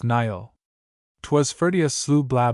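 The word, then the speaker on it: Niall: FN number 64 pronounced Nyall.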